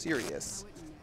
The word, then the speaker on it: Sirius: I was told before the broadcast that it was pronounced Sirius. Well, I just think of it like now, Sirius Black.